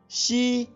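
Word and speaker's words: 西: इस दिशा की स्पेलिंग, जो कि चीनी भाषा में लिखी है, XI। स्पेलिंग एक बार फिर सुनिए, XI। अब इसका ध्वनि वादन सुनिए, शी, शी, शी।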